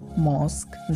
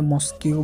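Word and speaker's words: mosque: প্রথম ওয়ার্ডটি হচ্ছে মস্ক, যার বাংলা অর্থ হচ্ছে মসজিদ। এই ওয়ার্ডটিকে আমরা প্রায় অনেকেই ভুল উচ্চারণ করি ইংরেজিতে মস্কিউ বলে। এটার সঠিক উচ্চারণ মস্কিউ নয়, এটার একমাত্র গ্রহণযোগ্য উচ্চারণ হচ্ছে মস্ক।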